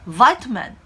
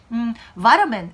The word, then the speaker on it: vitamin: 라고 물으면 vitamin 이렇게 발음해야 돼 라고 말씀 많이 하세요. 미국 발음 기준으로는 그렇습니다. 하지만 영국 발음에서는요, vitamin 이렇게 발음하기보다는 vitamin 이렇게 발음해요. 우리말로 표기했을 때 비타민에 보다 가까운 발음이라고 할 수 있죠.